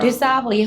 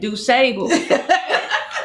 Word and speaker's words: DuSable: Dusabo, who they named Lakeshore Drive after. I'm over here like Dusable. A lot of people do that. Say it wrong.